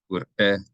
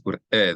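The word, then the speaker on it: וּרְאֵה: Ur'eh, ki, ammacha. And so it's ur'eh. There's a glottal stop, so the aleph is pronounced ur'eh. So it's ur'eh and not ureh.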